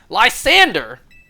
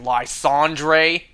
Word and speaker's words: Lysandre: Lysander! I can't stand it when people online mispronounce his name like Lysandre. That is so far from how it's pronounced.